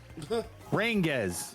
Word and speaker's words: Rangiz: Is it Rangiz? I always call you Ranges. I have no clue. I always say ranges, like range, with a Z.